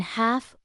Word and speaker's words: half: The letter L is silent in half, walk, and talk. When it comes before K or F, once you know these